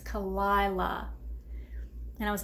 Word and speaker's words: Kalila: I think I was saying Kalila. She was like, it's Kalila.